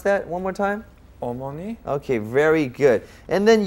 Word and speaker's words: 어머니: Pronounce that one more time. 어머니.